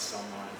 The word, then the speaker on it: salmon: tomorrow it'll be that everyone knows how to pronounce someon so anyway I won't embarrass myself and You